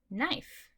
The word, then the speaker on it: knife: This is knife. The K is silent.